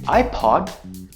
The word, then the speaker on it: iPod: Now you can say words like: HOTDOG... ...HOTMAIL... ... and iPod Right? If you try to say “ipod” to an American or an British person... ...they will be very confused and they will have no idea what you are saying {\i1}“ipod”...